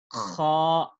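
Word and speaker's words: خ: yung tamang pagbigkas nito, ito ay pinagsamang K at saka yung H. So, paano natin sabihin? Paano natin bigkasin? Kha, kha.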